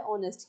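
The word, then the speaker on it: honest: एन ऑनेस्ट मैन, यहाँ देखिए एच से स्पेलिंग तो है ऑनेस्ट की, लेकिन हम बोलते कैसे, ऑनेस्ट, ओ से, तो एन ऑनेस्ट।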